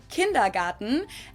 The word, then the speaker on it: Kindergarten: I already knew it Garden in German we pronounce it kindergarten and it literally means Children's Garden and even